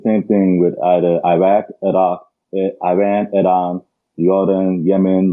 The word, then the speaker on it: Iraq: you you you said Iraq I was saying Iraq that is the Aran uh pronunciation and because Arabic is my first language I'm so used to saying things the Arabic way and there are times